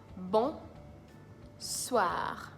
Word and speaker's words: bonsoir: bon soir bon soir you have to try as much as possible to roll your R at the end but if you can't roll your R that's fine you're still seeing it right so if you say bonsoir or bonsoir it's still fine so bonsoir good evening